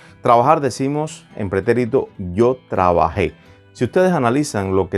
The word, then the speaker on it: trabajé: Por ejemplo, yo trabajé, importante aquí, la E con un acento, muy importante, yo trabajé, incluso la pronunciación es, por supuesto, necesaria. En este caso, decir yo trabajé.